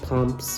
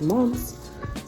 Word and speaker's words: mums: I like to call them like pumps, or it reminds me of like a pom-pom, but I believe the proper pronunciation is mums.